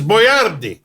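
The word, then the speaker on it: Boyardee: name boardi boardi yeah my name is boardi b o y r d i boardi after and after all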